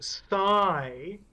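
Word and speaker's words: Psy: I didn't hear what you said why no sigh th like PSI he says yes like the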